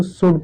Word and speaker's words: should: पढ़ते हैं, ये CHOULD, इसको शुल्ड नहीं, इसको शुड पढ़ते हैं, यानी कि यहाँ पर एल क्या है, चुप है, साइलेंट है।